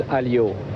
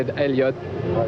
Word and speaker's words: Alliot: In French he's Alliot, but uh if the American people want to say Alliot, it's no problem for me.